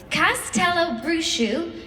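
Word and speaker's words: Castelobruxo: way this is phonetically spelled so I'm definitely pronouncing it correctly Castell bruu in Brazil hidden deep in the rainforest this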